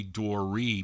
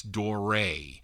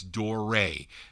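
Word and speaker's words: Doré: lot of people say Dorie but if you look there's that accent over the e its door ray it's not Dory a lot of people call it Dory its door ray that's how you pronounce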